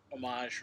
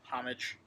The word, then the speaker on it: homage: liked that cover the homage or homage depending on how you want to pronounce it dr.